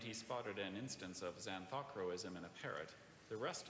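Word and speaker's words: xanthochroism: That's xanthocroism. Xanthocroism. Participation? Xanthocroism is the only pronunciation.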